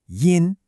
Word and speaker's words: 因: Okay, this first character is pronounced yin.